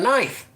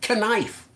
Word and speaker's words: knife: say earlier I had to break out a knife you know for cutting up stuff and I